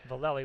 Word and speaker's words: Valelli: Yes, Valelli. Valelli with a short E.